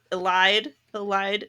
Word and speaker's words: Elide: Lorcan and Elide is the correct pronunciation of her name.